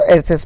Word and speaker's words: heiress: यहाँ पर एयरसेस है दोस्तों, HEIRESS, तो इसको इसमें जो एच जो है साइलेंट है तो एयरसेस पढ़ते हैं, यानी होता है वारिस, है ना।